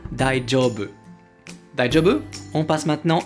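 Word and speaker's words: daijoubu: bien die du rebeu attention à la prononciation ce n'est pas un gie comme en français die job ou médaille job c'est comme si vous aviez un dea est un gie collés ensemble die jobs jobs on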